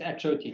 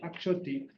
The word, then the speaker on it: Akchoti: Welcome Akchoti. Do I pronounce it good? Yeah, it's Akchoti. Thank you. Akchoti.